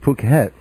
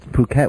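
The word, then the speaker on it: Phuket: even get to to um tell you about puket which is spelled p p h k t which but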